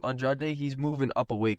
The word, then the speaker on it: Andrade: And that's also because Andrade, you say his name Andrade, he's moving up a weight class, and at